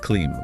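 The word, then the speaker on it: क्लीं: Next is clim pronounced clim with a soft.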